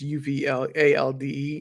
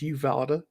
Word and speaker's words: Uvalde: And I might be mispronouncing that name, the town name wrong. It's Uvalde. I believe it's Uvalde.